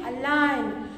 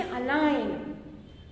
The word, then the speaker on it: align: Here also you say align. You won't say align. Okay, you won't say that. You make G is silent. You say align.